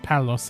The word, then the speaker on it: Paulus: Paulus is pronounced Palos.